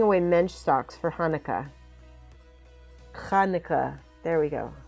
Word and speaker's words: Hanukkah: Hanukkah. There we go. Say it right. If you want to impress your Jewish friends, say Hanukkah with a cha.